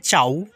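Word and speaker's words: ciao: এখানে আমরা সুন্দর করে সাজিয়ে রেখেছি যে ইটালিয়ান ভাষার উচ্চারণ এবং তার বাংলা অর্থ। এখানে চাউ চাউ হলো ইতালিয়ান ভাষা, আর তার বাংলা অর্থ হলো হ্যালো বা হাই।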